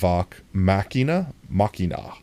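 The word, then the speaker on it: Vox Machina: It's pronounced The Legend of Vok Machina.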